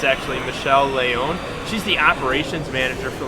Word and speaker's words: Michelle Leon: first guest here at imts her name is michelle leon or if you want to pronounce it the right way it's actually michelle leone she's the operations manager for laville technology doing